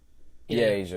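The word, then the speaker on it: A'ja: straight up that's how you pronounce her name Asia. Yeah, like the continent.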